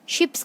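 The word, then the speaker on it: sheep: Fleet, fleet क्या है, शिप्स की कलेक्शन को क्या बोलते हैं, फ्लीट। देखो एक वर्ड होता है शिप, एक होता है शीप, तो दोनों की प्रोनाउंसिएशन अलग है, शिप शीप, ठीक है।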